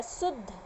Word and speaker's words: शुद्ध: इसको क्या बोले, शुद्ध, यानी द को पूरा उच्चारण नहीं करेंगे, इसमें द यूज हो रहा है लेकिन पूरा नहीं हो रहा है, शुद्ध।